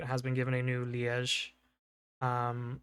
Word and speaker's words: Liège: And a varying composition loses 50 starting ammunition, but has been given a new Liège um I think that's how you say it. Liège? Liège? I think it's Liège um carbine as a starter item.